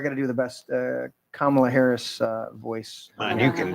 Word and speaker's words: Kamala: And lo and behold, within 2 days of Kamala, what the fuck's her name? don't say it wrong. Kamala. Oh, my bad. I keep Camilla.